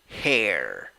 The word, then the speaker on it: hair: You have 2 vowels when you write it, A and I, but in the pronunciation you only have one, E. Pronunciation, hair, hair.